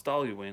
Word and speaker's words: Dailuaine: Is it Dailuaine? Is that how you pronounce this? No, it's Dailuaine. I'm pretty sure Dailuaine.